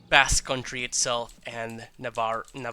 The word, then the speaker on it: Navarra: I don't know how to say it in English. Navarra. That feels like kind of wrong, but it's the Anglo-y way. It is the way I would Anglify the Spanish word.